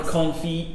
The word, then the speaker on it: confit: cooking and something or confit yeah or something but how cool is that it's just so real i love that anyway i pronounce the tea in confit am i lame why